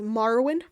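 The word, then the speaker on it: morwyn: Um, the Welsh word for maid is marowin. So, it's spelled like um, one second, I'll type it up here. It's spelled like morwin, but you make like a mar sound with it.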